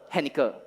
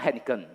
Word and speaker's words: Henniker: Henniker. It's not Henniken. Yeah, Henniker. So it's more easy for you to remember this name, right?